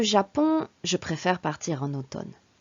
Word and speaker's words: automne: je préfère partir en automne attention à la prononciation de automne au town automne il y a deux eaux les eaux sont différents le premier os os le deuxième mot or automne l'automne j'aime beaucoup l'automne